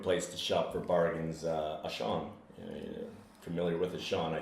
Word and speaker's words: Auchan: Ashan. Auchan. Oh, that's how you... It's a retail chain, and one of the famous. It's actually international retail chain. It's French, so in French it's pronounced Auchan.